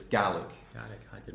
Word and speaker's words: Gaelic: So not Gaelic. In Ireland, it's pronounced Gaelic, but in Scotland, it's Gaelic.